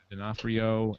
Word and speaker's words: D'Onofrio: But you had your Vincent, how do you pronounce his last name? D'Onofrio, and your Gary Sinise and Madeline Stowe.